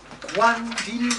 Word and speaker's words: quand'il: Quand'il bell'anno. Quand'il bell'anno. Quando is when. The missing syllable is an O, but it goes so quickly you don't really hear it.